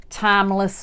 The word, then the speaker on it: Thymeless: on Amazon under um timeless designs Timeless and time is spelled just like the herb time t h y m e and that's how you